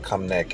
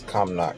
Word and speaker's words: Cumnock: that train up from come knock i said come neck is come knock that's how you pronounce it over here the greens bro but